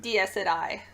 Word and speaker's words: Dies Irae: Dies Irae. But that's okay. Irae? It's kind of like Jiraiya.